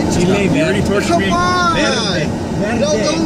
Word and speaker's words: verde: You have to be able to roll your R to say it.